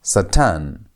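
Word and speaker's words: שָׂטָן: Remember you place the emphasis on the last part of the word unless the word is beginning with sego and sego a select noun.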